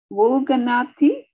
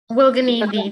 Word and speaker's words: Wulganidi: Wulganathi? Wulganidi, that's correct.